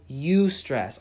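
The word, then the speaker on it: eustress: scientifically not true there's something called you stress I believe it's spelled EU STR es su stress go look it up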